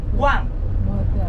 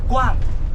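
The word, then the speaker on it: Quang: let me introduce myself my Vietnam name is Guang q u a n g Guang can you pronounce my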